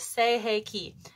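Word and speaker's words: Sei He Ki: called say hey Ki so say like s-a-y hey like hey and key like opening a door so you pronounce it say hey key and this is more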